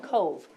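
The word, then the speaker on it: Cobh: Um in in traditional Gaelic spellings of things that that word that you see up there is not pronounced at all like it sounds. It's called Cove and it's a city um kind of down by Cork, Ireland.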